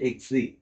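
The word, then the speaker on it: ξ: এটার উচ্চারণটা হচ্ছে এক্সি। ঠিক আছে? অনেকটা এক্স আই দিয়ে বলতে পারি বা এক্সি এরকম বলে আর কি।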